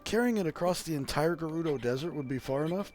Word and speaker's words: Gerudo: across the I guess the correct pronunciation is Gerudo desert I always thought it was Giroud oh but apparently it's Gerudo okay and I could